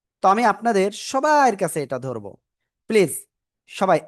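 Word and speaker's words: ث: জিহ্বার আগা, সামনের উপরে 2 দাঁতের আগায় লাগাবেন, এই যে আগা লাগিয়ে হালকা বাতাস বের করবেন।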